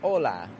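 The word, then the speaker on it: hola: would say that word whereas a Mexican would say Ola Ola it's not strong weak but it's two kind of strong syllables and that's such an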